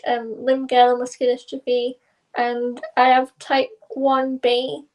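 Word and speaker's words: limb-girdle muscular dystrophy: Uh could you please share your journey with lial musculardrophe if I pronounce it right because I don't know uh and how it has shaped your personal and professional life. Yeah. So, you did pronounce it correct.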